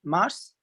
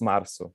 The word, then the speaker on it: março: Mars? I got it wrong. It's Março.